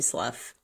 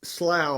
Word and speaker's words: Slough: people calling you Toby SLU well not if they've met your grandfather my father who says slow rhymes with plow but I get called slooh